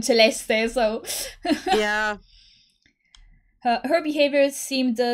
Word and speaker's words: Celeste: is a list celeste i always i will always say celeste because it's literally italian celeste so yeah her behavior